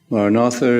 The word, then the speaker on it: Maranatha: is the word Maranatha Maranatha is an ancient prayer word in our tradition in Aramaic the language of Jesus it means come Lord if you choose this word say it as four syllables ma rah rah rah